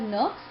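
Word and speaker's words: Nurkse: words of nuts now some people call uh pronounce this word as nooks some say not say so we will say it nuts and nuts has defined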